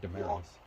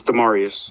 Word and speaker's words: Demarius: You too, Damaris. Prepare yourself. That's how you pronounce it. That's how you pronounce. Wait, I pronounced it wrong. It's Demarius.